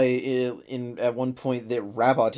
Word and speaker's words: Rabot: They even already clarify in at one point that Rabot is pronounced Rabo, so that you don't have to feel like it's That's too true.